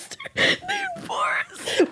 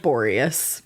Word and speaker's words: Boreas: Boris. Boris or Boreas? How would you pronounce Boreas? Boreas? Boreas. Boris? Boreas. I like Boreas. Boreas. Hannah, I hope I'm saying it right. All due respect. It's Boreas. Boreas.